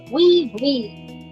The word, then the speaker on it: oui: I hope we observed how they say we, which means yes.